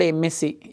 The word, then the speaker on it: MSc: Here we should come to the word MSc. MSc. What is the pronunciation? MSc. M. It's giving consonant sound or vowel sound? It's giving vowel sound.